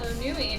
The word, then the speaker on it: Numi: All right, so Numi it is. N-U-M-I. is how Yeah. it's spelled, yeah.